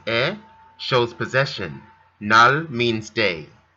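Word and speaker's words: 의: nenal jaehyun gunin veteran ui here pronounced e shows possession nal means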